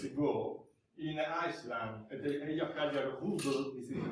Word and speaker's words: Eyjafjallajökull: a few years ago in Iceland, at the Eyjafjallajökull. This is the pronunciation of this difficult word.